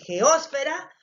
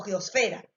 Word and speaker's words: geosfera: Entonces podemos decir geósfera o podemos decir geósfera o geosfera, incluso podemos decirlo así de esa manera.